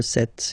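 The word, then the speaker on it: sept: it S, 26, 27, remember set, it was this P disappear, you don't pronounce it, 27, 28, so here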